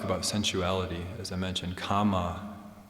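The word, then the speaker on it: kāma: sensuality as I mentioned Kama with a long a in uh in Pali and so the renunciation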